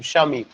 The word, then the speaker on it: शमीम: बट इफ you take my name शमीम, तो इसमें जो है दो सिलेबल। कैसे, जब आप प्रोनाउंस करेंगे श देन मीम, श देन मीम, शमीम।